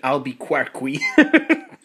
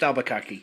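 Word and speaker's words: Albuquerque: one ZIP disc in alquar I know it's pronounced albari not yeah so now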